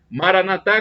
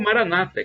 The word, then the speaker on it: Maranatha: significa vinde Senhor Jesus Maranatha com a tônica na última sílaba como disse os católicos ou Maranata como dizes protestante ou evangélico todos irmãos e o